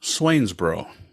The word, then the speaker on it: Swainsboro: So, and it's pronounced Swainsboro.